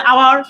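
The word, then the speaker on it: hour: আচ্ছা আওয়ার, এটা উচ্চারণ হচ্ছে আওয়ার, যেহেতু আ আ আছে, কোথায়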